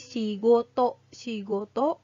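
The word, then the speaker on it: 仕事: benda dari makan ya kemudian kalau misalnya ditambahkan dengan kan Yi maka dibacanya menjadi shigoto shigoto atau pekerjaan jadi kanji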